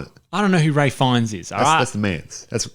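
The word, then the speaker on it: Ralph Fiennes: oh rafinis yeah yeah he's Ray fines though that's how he says his name I'm Ray fonts but it's Ralph finish like you know you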